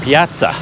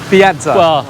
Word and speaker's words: piazza: oh Piazza Piazza yeah it's Italian right yeah and then the question do you say within England even in English I think we would say Piazza yeah because there is no English way to pronounce two Zeds together so I think you have to do the Italian thing but this place is